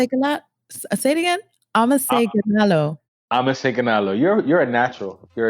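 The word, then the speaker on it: አመሰግናለሁ: You say amaseganalo.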